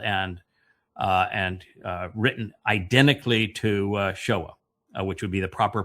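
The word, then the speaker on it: Sheol: And so they call it the Shiva system, which is spelled and written identically to Sheowl, which would be the proper pronunciation.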